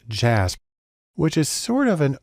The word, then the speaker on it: JASP: developed a program called jasb it's actually pronounced jazz which is sort of